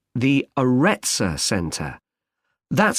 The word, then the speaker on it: Aretsa: It's called the Aretsa Centre. That's spelled A-R-R-E-T-S-A.